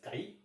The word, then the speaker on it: chi: Now next term is the magnetic susceptibility, that is represented by a symbol like X, that is not X, that is known as chi, CHI, pronunciation is CHI।